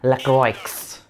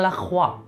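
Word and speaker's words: Louboutin: this perfume from Christian lro what Christian lro I didn't get it Christian lro lro Oh Oh you mean Christian laa it's Christian laa wow you know how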